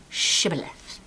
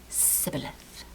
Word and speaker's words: shibboleth: The Israelites have the word shibboleth, and the Edomites pronounce it sibboleth.